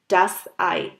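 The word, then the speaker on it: das Ei: সো ই আর আই লেটারগুলো যখন একসাথে থাকে তখন এটার প্রোনাউন্সিয়েশন হয় আই। আর একটা এক্সাম্পল সেটার জন্য হচ্ছে যেমন ডাস আই।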